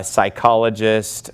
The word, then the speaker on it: psychologist: call it Psalms uh psychologist we would not pronounce the P but in Greek they